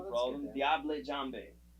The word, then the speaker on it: Diable Jambe: Diable Jambe. That's correct. That's French, whatever, Cajun, and that's 100% correct how you say that.